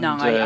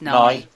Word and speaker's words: Nie: And, Nye, I think it's pronounced Nye.